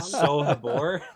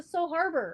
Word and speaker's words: So Habor: So Habor. Oh yeah. Oh, it's the So Harbor. It's not harbor. The audiobooks pronounce it Harbor. So harbor, but it's not harbor. It's So Habor.